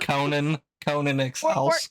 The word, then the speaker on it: Conan Exiles: It's pronounced Conan Exiles.